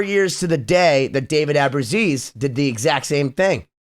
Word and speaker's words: Ellefson: And I got to hear from David Ellefson. That's how you pronounce it? Yeah. Took me 25 years, but it's David Ellefson.